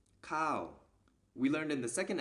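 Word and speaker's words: ข้าว: a high class consonant combined with this tone marker produces the falling tone so this word is pronounced cow we learned in the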